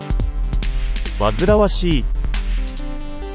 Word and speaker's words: 煩わしい: 感じ何と読むでしょう正解は煩わしい面倒で気が重い霧組ん